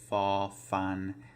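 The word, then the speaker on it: ฟ ฟัน: Sorry, I forgot to start with the pronunciation, but the pronunciation is fa fan, so it is an F sound.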